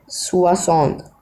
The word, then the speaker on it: soixante: हाँ, 60 को हम कहेंगे फ्रेंच में सुआसौंत। स्पेलिंग लिखने दीजिए मिनट। हाँ, सुआसौंत, ये होता है 60। सुआसौंत ए सुआसौंत दू, सुआसौंत हुआ, सुआसौंत कैथ, सुआसौंत साइंक, ऐसे ही आता रहेगा। और इसकी प्रोनाउंसिएशन है सुआ सोissant ओके।